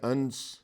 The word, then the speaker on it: انس: بھی مناسب ہوگا کہ ان کا نام انس ہے، جبکہ بہت سے لوگ اس کا تلفظ انس کیا کرتے ہیں، اور اسی